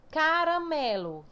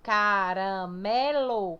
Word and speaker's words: caramelo: Caramelo, caramelo. Qual é a mais forte? Escuta, ó. Caramelo. Tá vendo que o mé é mais forte?